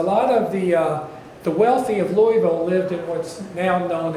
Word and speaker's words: Louisville: Depending on how you said his name is how you say our name. Louisville, Louisville. You don't say, we don't call it Louisville. Some do, though. Some do. And we know that they're not from Louisville, right? Those that don't pronounce it properly.